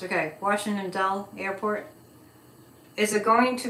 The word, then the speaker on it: Dulles: Dull is how it's pronounced. Okay, Washington Dull Airport.